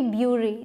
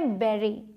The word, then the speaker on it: bury: इसकी प्रोनाउंसिएशन देखने में लगती है कि होगी ब्यूरी, लेकिन होती क्या है? बेरी, बेरी बोलते हैं।